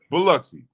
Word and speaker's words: Biloxi: say that coach Billa yeah good luck thanks Biloxi thank you coach Tupelo Mississippi Memphis Tennessee Columbus